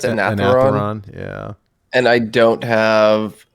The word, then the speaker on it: Anetheron: I'm missing the Unravelers, how do you pronounce it? Anetheron.